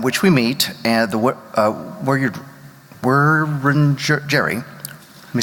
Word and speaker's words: Wurundjeri: the land on which we meet, and the Wurundjeri, let me say it right, Wurundjeri, people of the Kulin Nation, and pay my respects to the elders past and present.